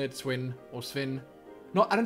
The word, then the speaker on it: Sven: My name is Sven. Sven. S-V-E-N. I just usually say it Sven or Sven.